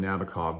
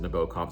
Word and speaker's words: Nabokov: in 1955, Vladimir Nabokov, a lot of people say his name Nabokov, but the author himself pronounces it Nabokov. This is why I say it that way.